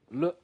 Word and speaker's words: 了: And this last syllable, le, is also toneless. Remember, we saw toneless syllable like ma, 你喝茶吗? Remember that? So this le also doesn't have any tone.